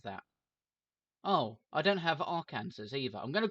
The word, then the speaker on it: Arkansas: I have Colorado, New Mexico, Oregon, Washington, and Arkansas. I know that's Arkansas. It's spelled Arkansas. Do I have any other? I have Kansas, just regular Kansas. Oh no, I don't have that. Oh, I don't have Arkansas either.